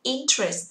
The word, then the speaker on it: interest: Interest, từ này rơi vào thứ nhất trọng âm. Chúng ta không đọc là interest mà đọc là interest.